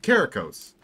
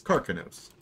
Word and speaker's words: Karkinos: That's how you say it. Karkinos. Instead of Karikos, it's Karkinos.